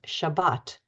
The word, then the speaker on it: Shabbat: similar Manner and who pronounced the name of the Sabbath as shabas the more traditional pronunciation versus Shabbat the more modern pronunciation felt almost like being